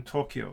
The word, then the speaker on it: Tokyo: You have 4 morai in Tokyo. So you have to, o, kyo, and o.